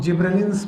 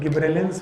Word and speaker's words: gibberellins: जिब्रेलिक acid, जिनको commonly हम लोग जिब्रेलिन्स बोलते हैं। अब इनको प्रोनाउंसिएट करने के सबके अलग अलग तरीके हैं। कोई गिब्रेलिन्स बोलते हैं, कोई गब्बर सिंह बोलते हैं। So these are not gibberellins, these are gibberellins, जिब्रेलिक acid.